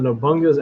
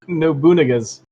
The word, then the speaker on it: Nobunaga: Also, I know it's a little douchey to correct pronunciation frequently, but did you say Nobunga? Hold on. Let me go back to Nobun. What the heck? Nobunaga's.